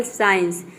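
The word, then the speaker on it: science: पे देख सकते हैं एग्जांपल साइंस साइंस में हम यहां पे सी को क्या प्रोनाउंस कर रहे हैं स प्रोनाउंस कर रहे हैं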